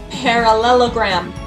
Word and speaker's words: parallelogram: So one thing that I did is I first said parallelogram, so they could see that it's 5 syllables.